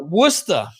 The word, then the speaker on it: Worcester: massachusetts that's close to him that is uh worcester yeah yeah but it's spelled warchester okay there's a um there's a